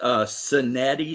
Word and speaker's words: Sinetti: His name was Sinetti, spelled with an S. So like Sin, Eddie.